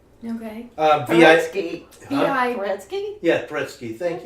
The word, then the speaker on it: Paretsky: Anyway, while I'm here, it is Sarah Petresky. Okay. Paretsky. V.I. Paretsky? Yeah, Paretsky. Thank you. Okay. I didn't say I was pronouncing it correctly.